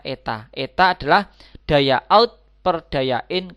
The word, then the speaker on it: eta: keluaran terhadap daya input ini membacanya adalah Eta dibacanya Eta Eta adalah daya out percayain kali 100% Hai